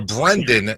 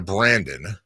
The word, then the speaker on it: Brenden: we talked about this you're a Brendan not a Brandon you're a Nunes not